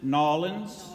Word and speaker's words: New Orleans: Melanie was born and raised in New Orleans, which she pronounces Nolans.